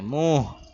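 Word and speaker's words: منہ: থাকে মুহ মানে মুখ এখানে নুন উচ্চারণ করতে হবে না নুন নাকে নিয়ে গুন্নার সাথে মুহ মুহ এভাবে মেসওয়াক করনেস মেসওয়াক করার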